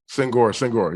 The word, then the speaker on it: Senghor: So just to make sure, your last name is pronounced Senghor. Senghor. Yeah. Senghor.